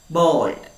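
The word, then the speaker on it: bald: the word b-a-l-d pronounce bold o the letter is a but we will pronounce it as o bold so what is the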